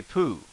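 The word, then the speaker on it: ぷ: ghost says boo similarly if we use the plosive we could say poo as in winnie the pooh or in reference to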